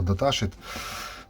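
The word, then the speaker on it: datasheet: колись мені писав коментар що я неправильно вимовляю слово даташиit е ковтає букву т Тому вже навчився виговорювати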